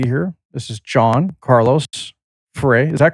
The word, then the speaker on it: Frey: This is John Carlos Fere. Is that correct? I pronounced your last name correctly.